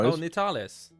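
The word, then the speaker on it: Nyteal: spelled like that. That's their first name. Oh, Nales.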